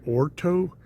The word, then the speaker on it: Horno: to cook on it's called a Orto, spelled with a H.